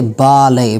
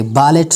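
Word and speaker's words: ballet: इफ़ a French word ends in ET, अगर कोई French word होता है और उनका जो एंड होता है वो ET होता है तब टी का जो साउंड होगा वो साइलेंट होगा, जैसे कि बाले, बालेट नहीं बाले.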